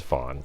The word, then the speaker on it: Vaughn: Maybe his middle name is Vaughn. I have to throw it out there. It's spelled V-A-U-G-H. V-A-U-G-H-N. Yeah, like Vince Vaughn.